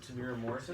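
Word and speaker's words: Temuera Morrison: Is that how you pronounce it? Tamiro Morrison?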